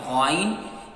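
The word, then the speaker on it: غين: So you will be to pronounce from first part of your throat. Gha, ghain.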